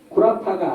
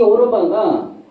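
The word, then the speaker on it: 歐羅巴: 구라파가 아니라 오로바라고 읽어요. 중국 발음으로. 근데 이 오로바가 아랍이란 말에서 나왔다는 거죠.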